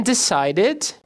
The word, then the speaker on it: decided: And decided. Não precisa and decided. Dois Ds juntos. And decided. Som de ID.